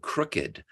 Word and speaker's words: crooked: what a cool word crooked where in most words with that spelling o-o-d like looked cooked booked all that you know all those words are one syllable but crooked demands two syllables not crooked but crooked